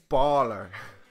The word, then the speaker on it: Bálor: a father would start with in this case baller not a baller like a